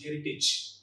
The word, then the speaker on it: heritage: That is courage and heritage. Often we pronounce these two terms like courage and heritage.